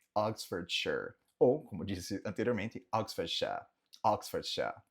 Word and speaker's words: Oxfordshire: Próximo, o condado onde fica Oxford, temos Oxfordshire. Oxfordshire, Oxfordshire, Oxfordshire. Ou, como disse anteriormente, Oxfordshire, Oxfordshire.